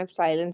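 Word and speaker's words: epsilon: इसे रीड कैसे करते हैं? एप्साइलेंट से रीड करते हैं।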